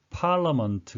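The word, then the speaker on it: parliament: 발음을 한가지 곳이었는데요 예 철자 상으론 ia 2개의 모음 있는데 발음은 에 강세가 오지 않고 짧게 바르면서 그냥 거 발음이 나겠습니다 그리고 앞쪽에 강세가 오른쪽은 알이 붙어서 앞에 있는 몸을 길게 해주는 자음으로 그래서 팔라 먼트 가 되겠습니다 scot 18 on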